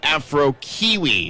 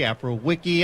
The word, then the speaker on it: Afrokiwi: things out with actually afro kiwi is the correct pronunciation of his name afro kiwi afrowiki i mean either way i think is actually correct we'll clarify that